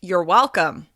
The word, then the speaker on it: welcome: with the simple phrase you're welcome there's nothing wrong with this simple saying it sounds completely natural we reduce the word your and stress the first syllable of welcome well because it's reduced